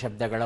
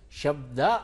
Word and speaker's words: ಶಬ್ದ: ಸರಿ ಉತ್ತರವನ್ನು ನೋಡು ಕನ್ನಡ ಶಬ್ದಗಳ ಉಚ್ಚಾರಣೆಯು ಕಷ್ಟವಲ್ಲ ಎರಡನೇ ವಾಕ್ಯ ಸರಿಯಾಗಿದೆ ಶಬ್ದ ಅಂತ ಹೇಳುತ್ತೇವೆ ಹೊರತು ಶಬ್ದ ಅಂತ ಹೇಳಬಾರದು ಮಹಾಪ್ರಾಣ ಬರಲ್ಲ ಹೊತ್ತು ಹಾಗೆ ಉಚ್ಚಾರಣೆ ಅಂದಾಗ ಅದು